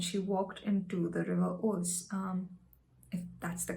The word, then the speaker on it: Ouse: with stones and she walked into the river oats um that's the correct pronunciation because she saw another mental illness bout